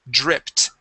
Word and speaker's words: dripped: So, when a word ends with a P, okay, uh a P sound, it sounds like a T. So, the word is dripped.